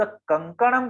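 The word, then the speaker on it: कंकणम्: लेकिन जब हम शब्द कंकणम कहते हैं तो चंद्र बिंदु सॉरी बिंदु के बाद जो अक्षर आ रहा है वो है क, और क के ग्रुप में जो है वो है न, तो उसका हम उच्चारण कर रहे हैं कंकणम।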